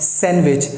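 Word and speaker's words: sandwich: अगर आप लोग यही बोलते हैं तो आप गलत बोलते हैं, क्योंकि इसका जो सही प्रोनाउंसिएशन है दैट इज़ कॉल्ड सैंडविच। इसमें डी है साइलेंट।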